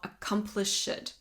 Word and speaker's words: accomplished: Something that you want to note in that line is the pronunciation of accomplished. So, you'll notice I'm pronouncing the ed as in like you can hear it stressed as an additional syllable that I wouldn't usually say. That is because of the rhythm.